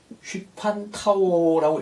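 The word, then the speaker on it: ὑπαντάω: 이런 단어가 있습니다 아 어떻게 읽느냐 휘판 타워라고 읽습니다 휘판 타워 휘판 타오는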